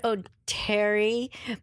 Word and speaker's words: Oteri: When I got to SNL, my name was always pronounced Cheri Oteri. And then when I moved to LA, some people said Oteri, but I never corrected them because it was like potato, potato. I mean, maybe I should have, but it just never bothered me. Because Cheri, E-R-I, is pronounced Eri. So Oteri, E-R-I, should be.